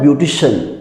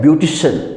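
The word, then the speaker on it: beautician: जैसे वर्ड आपको दिख रहा है, और आप इसे क्या पढ़ते हैं ब्यूटिशियन, इसे पढ़ते हैं ब्यूटिशियन, क्या पढ़ते हैं ब्यूटिशियन।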